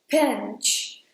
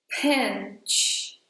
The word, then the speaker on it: pinch: Well for this sentence, the main point is: when you say the P in English, the letter P has a lot of air which is not very common in some other languages like Portuguese, for example. So when he says "pinch", notice that it's as if there was an H in between /p/ and /i/: "pinch". That's it. It requires you to make some pressure and put a lot